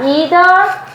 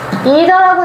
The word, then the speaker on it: either: 자, either A or B. 자, 우리 외운 겁니다. either라고 읽으셔도 되고 either라고 읽으셔도 돼요.